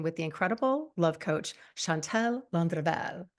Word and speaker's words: Chantal Landreville: the incredible love coach, Chantal Landreville. Am I saying it right? Oh, yeah, I love it. The Okay. R roll too.